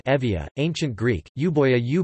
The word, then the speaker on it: Euboea: euboea or Evia greek you boy avoid pronounced evia ancient greek you boy you boy you boa